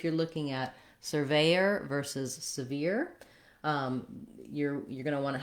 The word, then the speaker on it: sever: Then when we get to sever, it also has first syllable stress. Letter E in sever has the red tent vowel.